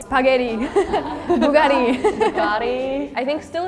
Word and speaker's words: Bugatti: Bugatti I think still if like you're technically pronouncing it right it should be like Bugatti but if you're listening to most people but I we still understand it like if you say Bugari I like okay acceptable yeah in France we